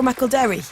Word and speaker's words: McElderry: some noise in the studio please for Joe mcelry don't you know I've been calling you Joe McElderry yeah that is how it's supposed to be pronounced it is but I do I've never